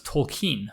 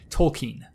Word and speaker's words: Tolkien: it Tolkien, but I was told that the pronunciation was Tolkien. So my apologies. Tolkien.